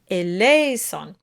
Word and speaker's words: eleison: You want to think of the word like misery, because also the last syllable, the S-O-N, is a non-accented syllable. The accent of the word is on le, eleison.